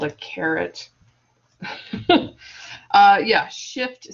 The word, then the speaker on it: caret: But the technical term is caret, but it's not spelled like like the vegetable.